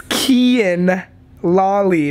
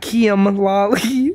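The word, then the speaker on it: Kian Lawley: It's Kian Lolly, not Kian Lolly. Oh, I thought it was an M at the end. It's an N.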